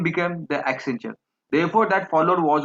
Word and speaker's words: Accenture: He submitted the Accenture name because it rhymed with adventure and suggested as an accent on the future.